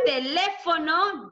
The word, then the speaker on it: teléfono: Recuerden que la palabra teléfono lleva tilde. Teléfono. En la segunda E.